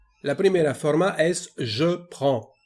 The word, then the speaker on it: prends: La primera forma es je prends. Existe una D, una S, pero no se pronuncian, solamente je prends.